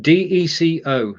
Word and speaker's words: Deco: Okay, so going on, and me, Chris, and Deco, D-E-C-O. There's no K. It's not like gecko. It's Deco, D-E-C-O.